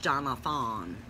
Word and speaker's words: Johnathon: way Jo HN athon because I wanted to be pronounced Jonathan people can spell it